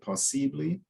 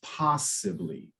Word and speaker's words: possibly: I think you said possibly uh but it's possibly and so remembering in English often the emphasis is is closer to the beginning okay whereas in Portuguese